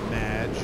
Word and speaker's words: Madge: have mispronounced my name it's madge which rhymes with badge uh as in anyway